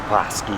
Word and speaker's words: Bosque: a big deal yesterday i wasn't sure how to pronounce it it's bossy in case you need to know scratch and dance stuff